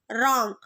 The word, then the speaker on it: wrong: So answer is wrong. What is the silent letter? W.